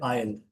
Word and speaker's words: isle: एक ही बहुत ही अच्छा वर्ड है, ISLE, इसको बोलते हैं आयल। नहीं, इसको मैं सही से लिख देता हूँ। आई का स्पेलिंग यहाँ पे हो जाएगा AISLE, इसको आयल बोलते हैं, मतलब कॉरिडोर होता है, गलियारा होता है।